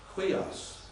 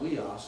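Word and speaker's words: ἥλιος: And Weos, you know, the sun is actually Quios. It's not Weos, it's Quios. Little H sound at the beginning when you have a rough breathing mark.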